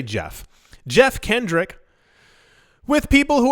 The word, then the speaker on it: Geoff: to Standard Chartered analysts, is that Jeff or Geoff? That's not a joke. I've never known how to say this name, Geoff, because it looks like Jeff, but then it's also Geoff. I'm going to say Jeff.